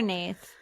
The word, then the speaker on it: Nath: Next week on the pod, we have I call her Nath. Well, her name is Nat, but it's spelled with an H.